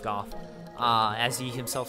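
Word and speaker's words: Gough: things but somehow lanfer got a hold of the hawk ring which is from Hawkeye go or Goff sorry it's pronounced Goff uh as he himself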